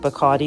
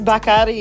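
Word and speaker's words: Bacardí: I know you probably pronounce it Bardi, but it's Bakari.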